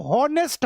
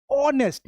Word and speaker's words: honest: आप यहाँ पर HONEST लिखा हुआ है ना, आप इसको हॉनेस्ट हॉनेस्ट पढ़ते होगे, लेकिन असल में ये क्या है, ऑनेस्ट। यहाँ पे एच साइलेंट हो जाता है ना, हॉनेस्ट नहीं होता है, ऑनेस्ट होता है।